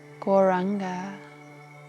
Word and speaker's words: Gauranga: So I'll sing the mantra Gauranga. We say it in 4 syllables. Gaur-ra-anga. Anga.